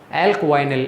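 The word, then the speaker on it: alkynyl: उसका नाम क्या होगा, एल्कवाइनिल। इस ग्रुप को मैं क्या बोलूँगा, इस रेडिकल का जो प्रोनाउंस होगा वो क्या होगा, एल्क, फिर आप बोलोगे वाई और फिर बोलोगे निल, एल्कवाइनिल।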